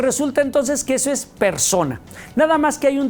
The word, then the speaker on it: personae: Pues igual, se escribe personae, pero la E no suena y entonces es persona.